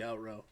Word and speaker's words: outro: I'm still on the out row. How do you say that? OUTRO. Outro. Have you always said out row?